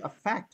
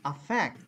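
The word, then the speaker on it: affect: আপনি কি এটা কি আ ফ্যাক্ট বলবেন নাকি আ ফ্যাক্ট বলবেন আফ্যাক্ট আফ্যাক্ট কারণ এই যে ফ্যাক্ট এর উপরে দেখুন এই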